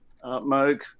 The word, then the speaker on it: Moog: Yesterday was, everybody knows, or most people have heard of what they think is called a Moog synthesizer. It's actually a Moog synthesizer. It's pronounced Moog, as in Vogue.